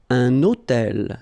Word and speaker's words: un hôtel: So you can see I'm making this little liaison between the two.